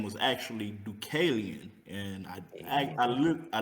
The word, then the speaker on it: Dukalion: interesting so um i go by the name ducalian and um the origin of the name comes from the greek version of noah the art builder uh whose name was actually ducalian and i i look a legit like i